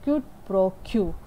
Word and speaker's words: quid pro quo: As per the contract, consideration is quid pro quo, as it is pronounced like QID PRO QUO.